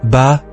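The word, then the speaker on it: 八: Le mot pour 8, ba, b, est phonétiquement très proche du mot fa, qui signifie croissance, prospérité ou richesse.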